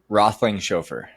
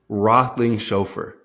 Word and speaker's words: Roethlingshoefer: So for everyone listening, how do you and for myself, how do you pronounce that last name? Rothling chauffeur Rothling chauffeur.